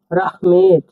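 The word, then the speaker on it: рахмет: রাহমেদ। রাহমেদ মানে ধন্যবাদ। রাহমেদ মানে ধন্যবাদ দেখুন এটা আর এ এক্স উচ্চারণ হবে এই হিসেবে এম ইটি রাহমেদ রাহমেদ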